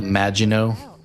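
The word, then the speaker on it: Maginot: Is this the Mago or Mago? I feel like I mispronounced that ship like for the first half my reviews. The Magino as in magic.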